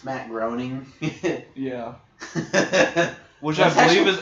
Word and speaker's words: Matt Groening: million I don't know ask Matt browning whatever the creator of Sampson's I like his name and the Halloween specials did you know it's Matt Groening yeah which as you because I believe that's